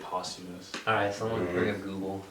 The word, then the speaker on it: posthumous: big fan of his posthumous is how you say that posthumous pasta they released after years yeah that's just something is it yeah i heard it's like possumous have you ever collab